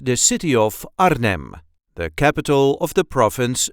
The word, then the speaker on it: Arnhem: accent the city of Arnhem, the capital of the province Gelderland. This is how we say Arnhem. Arnhem. There is a light emphasis on the first part.